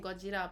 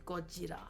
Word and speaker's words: Gojira: And I really love saying Gojira, but I don't want anyone to like be mad or offended.